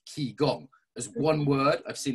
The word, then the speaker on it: qigong: Facebook message which is Chong spelled k i g o n g like key gong as one word I've